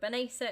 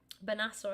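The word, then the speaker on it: Bennacer: So Benessa has come off for Pabega for Milan. Benassa, I do apologise. I've been pronouncing his name wrong.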